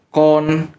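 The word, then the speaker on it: κύων: kalau anjing sebutannya adalah tulisannya kuon, bacanya kon, KOO strip HN, kon gitu.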